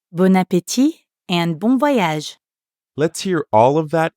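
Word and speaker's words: bon appétit: a good trip and notice that you don't pronounce the T at the end of appetit bon appetit bon appetit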